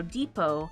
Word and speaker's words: depot: I think that it's like how Depot the tea is silent probably isn't that right